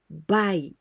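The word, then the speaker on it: 買: And onyomi, we pronounce buy.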